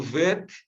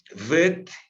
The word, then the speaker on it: Vet: Lembra quando eu falei, por exemplo, do vet, se tem o dagesh no meio, né? Esse ponto interior, e agora você sabe o nome desse pontinho, né? Que eu tinha mencionado para vocês, chama dagesh. Com o dagesh, ele soa como B. Então, sem o dagesh, soa como V, tá?